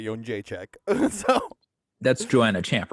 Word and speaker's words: Jędrzejczyk: It's Joanna Jędrzejczyk, former strawweight champion of the UFC.